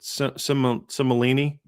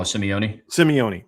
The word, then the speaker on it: Simeone: Is it Simolini? Oh, Simeone. Sorry.